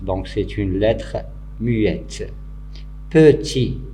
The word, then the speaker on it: petit: Petit, c'est pas petite, petit, il se termine par T, mais on n'entend pas dans la prononciation.